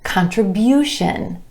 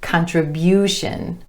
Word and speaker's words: contribution: But when we add our TION ending, it becomes contribution, contribution, with emphasis on the U vowel sound right before the TION ending, contribution.